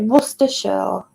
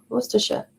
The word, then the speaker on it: Worcestershire: make a bolognese sauce um yeah that's it worcestershire yeah worcestershire and that's that's how you print how the how you pronounce it in soups but yeah it's it's